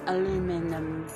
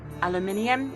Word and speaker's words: aluminium: Oh, he's aluman, as in he's aluminum. Aluminium is what I'd say, but I guess Americans say aluminum.